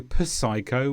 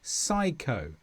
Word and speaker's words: psycho: P before S is a silent letter. So we don't say psalm, we say psalm. Sing a psalm for me. We don't say psycho, we say psycho.